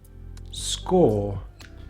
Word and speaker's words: score: Another word we have that uses the or spelling for this sound is score score. So we have sk or, the e is silent.